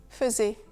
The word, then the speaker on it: faisait: Un clown faisait, je faisais, il faisait. Le premier AI de faisait se prononce E.